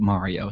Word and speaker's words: Mario: Okay, you can beat Mario Kart in a day. He pronounces it Mario, so I think it's pronounced Mario. Mario himself pronounces it Mario. Okay. So it's not Mario.